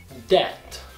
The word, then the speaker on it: debt: Então, pronúncia dessas palavras seriam debt, debt, doubt, doubt.